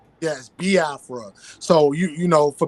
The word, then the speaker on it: Biafra: this this whole situation with the you say bafra am I saying it right I say bafra